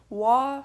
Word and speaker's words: Waugh: It looks like there's some conflicting information on that, but Waugh seems to be the general consensus.